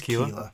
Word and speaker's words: chela: I looked at the pronunciation and it says Kila.